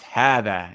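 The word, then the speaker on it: هذا: First, we're going to note that hada, right, is pronounced hada. It's written like hada, right? But it's pronounced hada, and this word is pronounced hadihi, okay?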